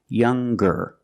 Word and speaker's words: younger: the G sound the hard G so it's younger G with a G sound stronger the youngest again with the G sound the strongest guest the